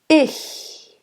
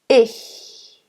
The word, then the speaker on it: ich: It stays in the position of the preceding vowel, which is I. It's a open I. Ich. Ich. Ich. It's almost like you want to exhale. You don't want to be too tight in your throat, because then it sounds like ich. Ich. It's very soft and it's very bright.